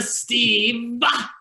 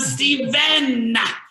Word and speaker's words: Steven: make sure that you say my name with an N, because if you don't, my mom will find you. His name is not a Steve. It's a Steven.